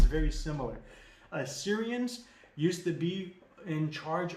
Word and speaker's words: Assyrian: he wears, it's called Assyrian. Don't confuse it for Syria. Syria is the exact same spelling and pronunciation as Assyria. The only difference is there's an A in front of it.